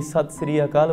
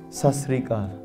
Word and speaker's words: Sat Sri Akaal: we don't actually even say, say 'Sat Sri Akaal', what do we say? We say, 'sas ri kaal'. 'Sat Sri Akaal' is not a hello for us.